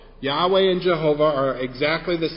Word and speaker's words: Jehovah: some old English Bibles they actually used the German pronunciation of this name in the name is Jehovah Yahweh and Jehovah are exactly